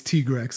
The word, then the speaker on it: Tigrex: tiger i i i want to say it's tigrex even though officially it's t-grex i still like tigrex okay dino where do